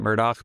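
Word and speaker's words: Murdaugh: No, this is um It's actually spelled Murdoch, A U G H, but they pronounce it Murdoch because South Carolina, those motherfuckers.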